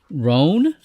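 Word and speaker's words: Rohn: The captain is a Vulcan named Captain Rhon. That's how we're going to pronounce it, R-O-H-N.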